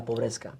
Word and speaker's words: Pobreska: me to join La Pobreska. Wow, and how long had that band been going on? How do you say it? Sorry, La Pobreska. Pobreska. Like poor? Yeah, like poor.